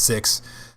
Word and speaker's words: Seox: Um, the final Grand Blue Fantasy versus Season 2 character, Six, it's Seox, but it's pronounced Six, at least in Japan, joins July 13th, brought to us by Fighters Generation.